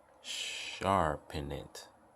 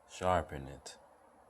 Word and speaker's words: Sarpanit: Enoch's granddaughter Yes you heard me Eno granddaughter sharpen it yes that's how you pronounce it yes sharpen it Ladi and gentlemen let me tell you something